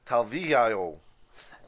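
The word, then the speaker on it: Talviyö: You sure you don't want to try to pronounce it? Talvillo.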